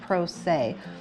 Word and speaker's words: se: PR 0 SE and it's pronounced say and if you're going